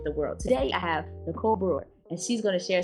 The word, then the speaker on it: Nicole Brewer: I'm Nicole Brewer, and I like to tell people I'm an English teacher by day and travel blogger by night.